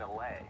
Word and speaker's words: allay: And through my explorations, it was then that I found an allay. Oh, dude, allays. It's pronounced allay.